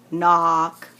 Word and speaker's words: knock: shouldn't be stop slope knock notice this word has got a very interesting spelling pattern it's got a silent k at the front of it you may think of